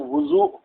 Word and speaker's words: وضو: وضو فرماتے ہیں وضو واو پر ضمہ دے کے آپ کو پڑھنا ہے، اور ضاد پہ تو آٹومیٹک ہی ضمہ آئے گا.